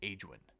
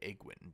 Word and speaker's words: Aegwyn: Anyway, so his mother was Aegwyn, or Egwin, depending on how you like to pronounce that name.